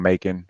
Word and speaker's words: Macon: Dried up somewhere around Macon, which rhymes with bacon, and it was smooth sailing from there on.